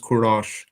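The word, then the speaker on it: Kourosh: pronounced kurosh or something yeah so it is pronounced kurosh and it is I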